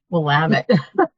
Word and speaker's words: Willamette: the Willamette, now that I know how to pronounce that correctly, Willamette area.